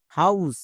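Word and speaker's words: house: কখন হয় যেমন এইচ ও ইউ এস ই হাউস এখানে দেখো ও ইউ আছে এর জন্য আউ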